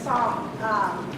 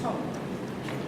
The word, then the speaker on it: Song: My name is Song. The Hmong way is called Tong. And so to pronounce in English say song, but in Hmong it's Tong.